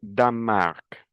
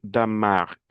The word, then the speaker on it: Danemark: la Belgique belge la Bulgarie bulgare Chypre chypriote la Croatie croate le Danemark, le E, je ne le prononce pas. le Danemark danois danoise l'Espagne espagnol espagnole l'Estonie estonien estonienne la Finlande La nasalisation ici en.